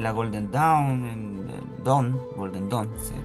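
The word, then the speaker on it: Golden Dawn: una búsqueda en la Golden Down, en Don, Golden Don se pronuncia.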